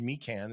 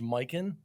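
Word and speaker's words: Mikan: minneapolis laker center right i might have called him george mecan it's actually george miken that's how it's pronounced because there's a miken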